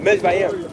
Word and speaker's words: Mizraim: Mizraim.